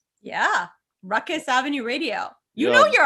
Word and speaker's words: Rukus: I am more familiar with the word that rhymes with ruckus and starts with F, because that's what people say to me all the time.